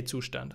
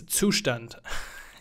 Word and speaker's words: Zustand: now I'm gonna say two stand I'm sorry for all English speaking folks try to pronounce it correctly it's sushdent I'm gonna have trouble